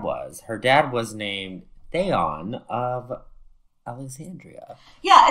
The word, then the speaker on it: Theon: her dad was named theon of alexandria yeah it's pronounced theon but it looks in writing like theon like game of thrones like yes it